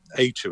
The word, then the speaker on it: aitu: That's AITU, I believe it is. AYTU. A2, it's pronounced, and that's what a Polynesian ghost is known as.